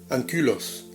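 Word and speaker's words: ἀγκύλος: Mirad, la palabra ángulo procede del griego ankylos, que significa curvado, encorvado. He visto aquí una persona con su jorobita. Claro, ankylos, la U se pronuncia como la U francesa o también en rumano. Ankylos.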